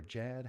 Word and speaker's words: Jad: So what we have coming up next here, we've got some, is it Jade or Jad? How do you say it? Jad Fair. Jad.